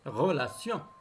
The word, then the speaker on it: relations: but les péripéties relations relations toujours tes se prononce ses relations vague en les wagons